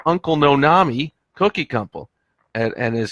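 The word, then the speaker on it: Uncle Noname: started this company called uncle nanami cookie cumple and and as he that's how he pronounced it but as you can read it it's uncle no name hence he lost the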